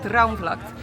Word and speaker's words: Droomvlucht: Told you she can pronounce it right. Droomvlucht, it is something that is new.